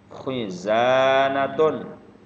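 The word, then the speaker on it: خِزَانَةٌ: Khizanatun. Khizanatun. Khizanatun. Nah, artinya adalah lemari, ya. Jadi sudah tahu bahasa Arabnya lemari. Sebutkan khizanatun, kho khui khu, khizanatun, khizanatun, ya, hurufnya tenggorokan.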